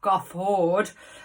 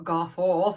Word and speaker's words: Garforth: couple of Vlogs ago got a Ford the the triangle there the triangle forward which is now yeah or go forth as I pronounced it when I moved here in 1998 but it's great and